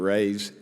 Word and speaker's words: Reyes: Reyes?